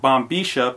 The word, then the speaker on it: bombilla: Yes, I pronounce it bombilla because I lived in Argentina for several years, and that's the Spanish that I learned.